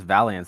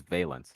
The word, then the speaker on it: Valence: uh holmes hasn't been calling us valiance this whole time because the team name is valence violent valiant he was